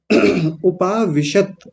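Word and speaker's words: उपाविशत्: इसको ध्यान से देखिए उपाविषत ऐसे बोलेंगे उपाविषत बोलिए उपाविषत हां जी बहुत बढ़िया अब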